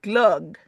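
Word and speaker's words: glögg: over the O and it's pronounced glug like ug m is one Sweden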